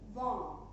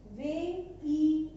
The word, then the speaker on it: vingt: एंड 20 is called in French वां. VINGT यानी कि वे INJT. वां.